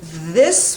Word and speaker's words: this: it so often so the th is a voiced th this is the United